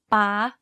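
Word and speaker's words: ป๊า: For example, take the word ป ๊ า or dad. You can hear that my pitch went high when saying this word.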